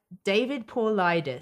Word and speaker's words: David Paulides: Well, I would not have pronounced his name right. David Paulides.